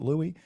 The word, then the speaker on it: Louis: Louis pronounced it Louis. They pronounce it Louis.